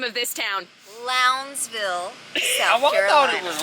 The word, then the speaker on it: Lowndesville: Billy can you please tell us how to pronounce the name of this town lville thought it was loudville me too don't know how to